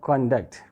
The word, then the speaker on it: conduct: it is a verb when this word contact is used as a noun the stress is on the first syllable conduct there are two syllables